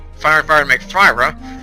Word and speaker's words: Fira: and fire to make Thyra, or Fira, as some people pronounce it, sounds weird to me, you'd get a fire boost thing.